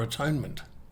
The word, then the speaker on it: atonement: I refer, of course, to the principles of forgiveness, reconciliation, or atonement. Atonement is an interesting word. Broken into its 3 syllables, it reads as at-one-ment, a subtle difference from the more widely considered application of punishment for some wrong.